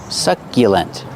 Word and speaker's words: succulent: will live succulents pronunciation use the short uh like up and cup suck succulence use the Y sound like yesterday YY succulent these are called succulents